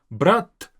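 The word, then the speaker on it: брат: The difference is in the very last t. Brat. More like a doll, not even almost heard sometimes, letter t. Brat. That's brother. Now, brat is to take. Now, this t versus t difference, you have to master it, you have to get it, but brat is brother.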